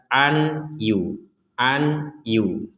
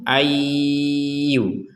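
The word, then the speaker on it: أَن يُوصَلَ: Nun sukun bertemu ya, maka kita membacanya nun dimasukkan ke ya. Jadi jangan dibaca an yu.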